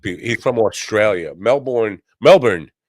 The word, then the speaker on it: Melbourne: Melbourne. That's how they say it.